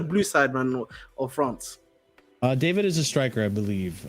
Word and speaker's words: Deivid: So he was basically contradicting Santi JFM essentially, because Monaco apparently have the first refusal to Is it Deivid or is it David? It's David. Okay, it's just all David.